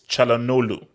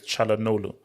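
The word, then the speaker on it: Çalhanoğlu: So it's Chalanolu. You don't pronounce the G, so it's Chalanolu.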